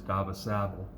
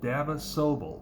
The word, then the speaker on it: Dava Sobel: and the author is Dava Sabel. I can't talk tonight, guys. I can't. I'm just trembling over words. Dava Sobel. There we go. Dava Sobel. That's how you say it.